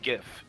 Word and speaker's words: GIF: stop you there Alex it's pronounced GIF oh God he is